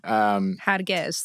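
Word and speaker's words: هرگز: Hargez. That's how you say it in Farsi.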